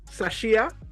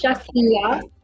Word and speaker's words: Shakia: So, no, that's not how my name pronounced. But No, tell me how it is. Is it Sashia or it's Shakia.